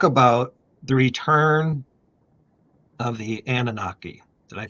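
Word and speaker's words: Anunnaki: while back, talk about the return of the Annunaki. Did I pronounce that right?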